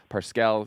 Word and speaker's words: Parscale: It's Parscale.